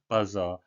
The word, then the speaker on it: buzzer: By pressing a buzzer. 초인종을 눌러 사람을 부르다. 우리가 버저라고 하는 거, 우리말로는 부자라고 하기도 하죠. 부자를 눌러주세요인데 영어식 발음은 buzzer가 되겠습니다.